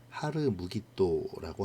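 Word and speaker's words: הר מגידו: 히브리어 원어 발음은 하르 무기또라고 하죠. 이것이 헬라어로 음역되면서 하르마겟돈으로 바뀌었고요. 다시 라틴어로 넘어가며 아마겟돈이 된 것입니다.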